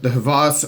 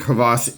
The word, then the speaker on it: HVAS: and the CRKT is it's called the Havas or the H vas or the hv is however a people are saying I think crevasse is the proper pronunciation but that is inside